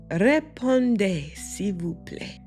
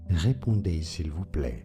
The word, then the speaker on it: Répondez s'il vous plaît: Yeah, répondez s'il vous plaît. Respond if you please. And that's where people get the RSVP. Let's look at how to pronounce this expression. Répondez s'il vous plaît.